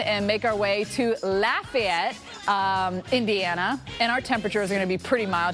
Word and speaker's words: Lafayette: same name it's spelled the same but they're pronounced differently so let's look at the word today l-a-f-a-y-e-t-t-e all right so what city are we saying